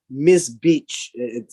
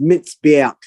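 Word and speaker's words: מזבח: Now, this is in Hebrew, mitzbeach. Although when you read it in English, it's like Miss Beach. That's not how it's pronounced. It's mitzbeach.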